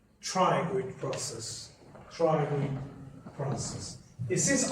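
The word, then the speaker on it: pterygoid: Again P is silent. Triangid process.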